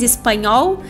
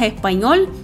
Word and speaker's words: español: Talvez tu tenhas falado algo como "tu eres espanhol", tudo bem aberto, mas a pronúncia certa é "tu eres español" ou simplesmente "tu eres español" ou espanhol.